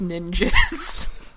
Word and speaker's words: Ninjzz: I mean, yes, it's written out N I N J Zz, but it's pronounced ninjas.